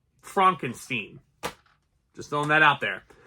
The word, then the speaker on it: Frankenstein: Frankenstein sorry sorry Frankenstein it's pronounced Frankenstein just throwing that out